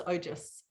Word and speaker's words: ojas: They AS but pronounce ojas.